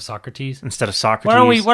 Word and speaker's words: Socrates: French one you really soak rotties soak rotties instead of Socrates instead of soccer well